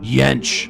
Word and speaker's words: Yench: it sounds very aggressive it rhymes with stench robert yench but this guy he